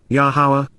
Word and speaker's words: Yahowah: Yahowah, Yahowah, the proper pronunciation of Yahowah, our Eloah, God as directed